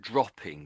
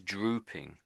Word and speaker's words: drooping: one O, it might be dropping, but there's with two O's, it's a similar meaning actually, but it's a Mhm. different word. This is drooping, drooping.